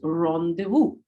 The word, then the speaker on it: rendezvous: So it's pronounced as rendezvous.